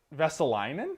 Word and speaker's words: Vesalainen: So on the third line, Christian Vesalainen is I think how you say it. Christian Vesalainen. I think you nailed that.